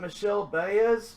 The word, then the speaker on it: Michel Baez: We got Michel Baez, Padres.